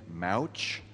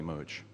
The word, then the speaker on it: Mooch: movie of Atlas Shrugged, they chose to pronounce his name Mouch. I just don't get that. I mean, when I read Atlas Shrugged for the first time in high school, it was definitely Mooch.